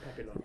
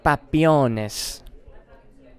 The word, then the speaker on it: Papillon: That might have been incorrect pronunciation, but it wasn't rude, was it? No, it was Papillon. Papillon. Yeah, so, Papillon. Richard Shox Papillones.